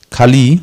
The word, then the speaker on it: Kali: So Kali with a short I is male, you know.